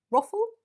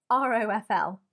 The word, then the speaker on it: ROFL: Ruffle? Could you say it like that? Probably not. R-O-F-L.